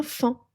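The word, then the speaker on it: faon: Et le petit, le bébé du ser et de la biche, c'est un fant. Un fan. Ça s'écrit f a o fan. Ça s'écrit pharaon mais on dit fin.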